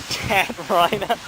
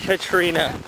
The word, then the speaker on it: Katrina: It was like hurricane Cat Rhina. I'm pretty sure it's pronounced Katrina.